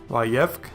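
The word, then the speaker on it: וַיֵּבְךְּ: Both are silent, and so the pronunciation becomes Vayevk, which means he wept.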